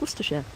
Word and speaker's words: Worcestershire: uh quasi says it's just like uh worcestershire which is spelled worcestershire pronounced worcestershire he says smash it together really fast oh hi well if